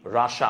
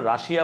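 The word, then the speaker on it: Russia: District in central রাসা উচ্চারণটা কি রাসা আমরা রাশিয়া বলি বাট রাসা বলে হোয়াটভার ইট ইজ তুমি রাশিয়া বল প্যারা নাই মানে প্রোনাউন্সিয়েশন এখানে তোমাকে খুব বেশি একটা প্যারায় ফেলবে না।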